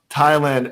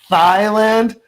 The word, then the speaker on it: Thailand: um yeah so anyways it's pronounced thailand as opposed to what president trump pronounces it as thailand oh god yeah well